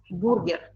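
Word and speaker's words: бургер: Yeah, we pronounced it letter by letter.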